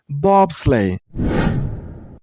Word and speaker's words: bobsleigh: batlan Bathlon that's it this word has only two syllables bob sleigh and use a stress on the first syllable I mean on bob bob slay this word name has